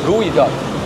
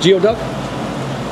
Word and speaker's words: geoduck: No, you say gooey duck. You seriously think it's geoduck? Leave it in the comments down below on how to pronounce it. Geoduck. I don't know. 100% on board. We grew up saying geoduck. I know. I grew up saying it the right way, though. Okay.